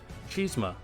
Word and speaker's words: chisme: can just call me cheese them which is gossip in Spanish pronounced chisme your new senior community